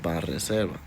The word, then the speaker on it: Banreservas: I got to say it like that, like Spanish. Banreservas.